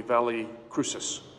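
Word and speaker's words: Valle Crucis: the Cross Valley crew chiefs or as they pronounce it locally Valle Cruces which was organized by a group of Anglican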